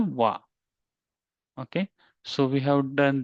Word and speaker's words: は: Okay, but if it comes at end of the word, you will pronounce it a wa.